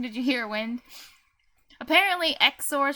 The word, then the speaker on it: XOR: in this conversation did you hear wind apparently exor pronounced X or how do you pronounce it anyway no they